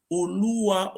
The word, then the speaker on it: Oluwa: When he went to Ishekiri land, he became the Oluwa. That is, he was answering his father's name. Oluwa, we now call it Olu. Is the real pronunciation is Oluwa of Ishekiri.